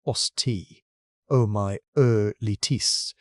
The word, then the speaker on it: osteomyelitis: Worst of all, an infection called osteomyelitis, pronounced osteomyelitis, raging through the toes of the right foot.